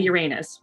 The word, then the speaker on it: Uranus: Is it pronounced that, or is it pronounced Uranus? No, it's most definitely Uranus because of all the jokes.